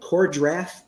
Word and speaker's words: Kor-Drath: The book we're talking about, of course, is, tell me if I'm saying it right, Kor-Drath, The Reckoning?